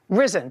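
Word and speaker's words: Rizin: what's the name of your company risen Athletics reisen risen risen spell it r i z i n space Athletics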